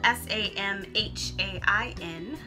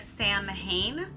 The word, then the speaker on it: Samhain: Samhain, spelled S-A-M-H-A-I-N, looks like Samhain, but it is pronounced Samhain.